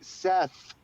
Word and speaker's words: Seth: lifelong curse is that my first name ends in a th and it always people always think that I can't pronounce my own name like Seth that's right yeah but you say set set well we're going to